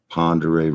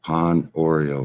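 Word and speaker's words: Pend Oreille: No, we have a famous river called Ponderay River. Just put in Ponderay River flows north. P-E-N-D Oreo, Pond Oreo River. O-R-I-E-L-L-E. Pond Oreo River. It's pronounced Ponderay River, but it's spelled P-E-N-D.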